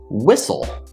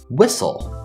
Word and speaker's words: whistle: this word is pronounced whistle whistle so we have two syllables whistle and the stress is on the first syllable whistle whistle the first syllable